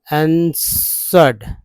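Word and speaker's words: answered: तो यहाँ देखिए frightening, I आंसर्ड, ए एन एस, आंसर्ड, आंसर्ड, एस यहाँ डब्ल्यू साइलेंट है तो आंसर्ड हो गया, आंसर्ड मोस्ट, एम से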